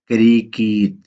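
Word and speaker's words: كريكيت: خاص نام نہیں ہے، اس کو ویسے ہی تلفظ کے ساتھ کریکیت، کریکیت اس طرح بول دیتے ہیں۔ کرکٹ یعنی کہ کریکیت۔ دوستو ہمارا لیسن اس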